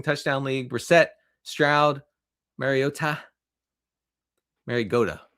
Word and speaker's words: Mariota: Mariota is actually the pronunciation.